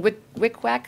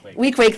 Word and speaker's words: Weequahic: I was at a Martin Luther King Day event in Newark, New Jersey, in Wickwak High School. You can probably pronounce that for me. Weequahic, thank you.